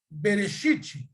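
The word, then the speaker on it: בראשית: Ó, vamos lá, substantivo, ó, Bereshit, aqui, ó. Então você tem aqui, ó, Bereshit, ó, Bereshit, né? Você tem aqui o Bereshit. Transliteração Bereshit, a pronúncia Bereshit, e a tradução é princípio ou começo.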